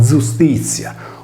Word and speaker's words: Iustitia: L'equivalente latina di Temi era giustizia, pronunciato giustizia, come in sardo, o dea dei giusti.